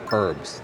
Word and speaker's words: herbs: of Canada, people say herbs. They pronounce the whole word, herbs. Herbs. But in America, and some places in Canada, we say herbs. So, we don't pronounce the H.